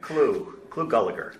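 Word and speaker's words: Clu Gulager: Clu Gulliger.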